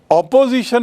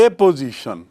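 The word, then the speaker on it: apposition: संज्ञा और एपोजिशन, spelling देखिए, APPO, ऑपोजिशन नहीं है। ऑपोजिशन मतलब विरोध, ऑपोजिशन, और मैं बात कर रहा हूं एपोजिशन, और हिंदी में उसका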